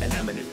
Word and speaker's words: anemone: As a Pixar fan, you should have nailed how to pronounce anemone.